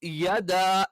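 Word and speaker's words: يدا: തബ്ബത് യദാ യദ. യ എന്നുള്ള യെ ആയി പോകരുത്, യ എന്ന് കറക്റ്റ് പറയണം.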